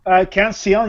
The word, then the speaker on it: Canción: Now the next one is Cancio. Is that the way you pronounce it? Canción, yeah.